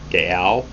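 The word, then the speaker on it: gaol: of the ballot of reading gold g-a-o-l gael this was a daring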